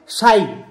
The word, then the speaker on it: शाई: और जीजाजी को अगर अपनी साली को बुलाना है तो आप उनको क्या बोल सकते हो, शाई। ली की जगह पर ई आ जाता है, साली शाई, उच्चारण ऐसे होगा, ओ शाई, यो मेरी शाई छू, मतलब ये मेरी साली है।